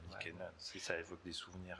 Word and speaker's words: Nykänen: Alors, en finnois, on va dire Matti Nykänen. Voilà, c'est ça. Mais il était connu dans le monde francophone comme Nykänen, donc je pense qu'on peut dire Nykänen, si ça évoque des souvenirs assez.